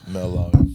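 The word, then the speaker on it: Merlot: Merlo.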